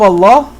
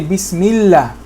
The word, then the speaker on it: Allah: Lam in general with the fatha is pronounced la. But in the name of Allah, it's pronounced Allah. Unless a kasra comes before the name of Allah, meaning that this Bismi is connecting to this name Allah. Okay? And in this situation, we say Bismillah.